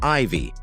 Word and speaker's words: Ivy: daughter the middle name Ivy which is pronounced like the Roman numeral four when spelled out as letters there are other less